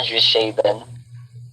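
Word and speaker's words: Zwischenscheiben: So, Swiss-Scheiben, dulo pag pronounce yan, Swiss-Scheiben. Parang Arnold Schwarzenegger lang yan siya.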